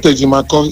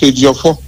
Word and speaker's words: Ejiofo: It's not Ejimako, it's Ejiofo.